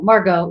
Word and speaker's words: Margaux: So my guest today, I think you go by Margaux, or is it Margaux? Correct. Yeah. Margaux, either one. Yeah. Some people like to pronounce a little more on the emphasis on the O.